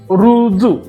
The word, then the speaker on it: ऋजु: कशा लिहितात ते बघूयात रु ऋषीतला रु आणि जू रुजू रुजू या शब्दाला इंग्लिश मध्ये